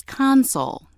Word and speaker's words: console: The other pronunciation of word three is console. Console. This pronunciation is used when word three functions as a noun meaning an organ keyboard, a control panel or a table.